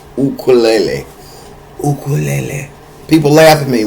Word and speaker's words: ukulele: But first of all, the proper pronunciation of this is ukulele. Ule. Look it up. Look it up on Google. Say what is the proper pronunciation? It is ukulele.